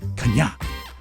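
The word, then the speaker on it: Chania: No, it's not Kanye. Here's my... all right, it's spelled C-H-A-N-I-A, which I would go Kanye. Right. Or Kania. And then the pronouncer is K-A-A-N-I-Y capital A-A. Kanya. Kanya.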